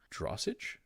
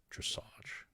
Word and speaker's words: dressage: there's some up here drossage dressage he's corrects him on the pronunciation sheroot believes is